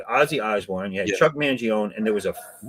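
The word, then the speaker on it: Mangione: Uh if you say his name right, Chuck Manion. No. More people might recognize you, but you know him. Well, I called him Chuck Manion. You know, he is silent.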